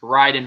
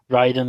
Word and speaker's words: Raiden: I've had people complain to me about how you pronounce Raiden and Raiden. Because they're both Raiden spelled the same. Raiden Spelled the same name, but you originally- pronounce it no. differently. Raiden had a Y in it originally. Yeah, originally. Then he changed it to an I.